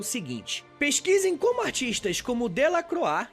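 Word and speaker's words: Delacroix: pesquisem como artistas como del croa que se escreve del croix e o Goya representam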